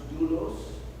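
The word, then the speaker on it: δοῦλος: The word that is used here, actually, which in Greek is pronounced doulos.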